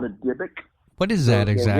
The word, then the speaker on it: Dybbuk: Yeah, some people call it a Dybbuk. What is that exactly? The original Hebrew is Dybbuk.